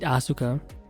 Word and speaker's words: Asuka: Like when you say or read Asuka in Japanese, it's pronounced Asuka. So, basically, you have like a silent U.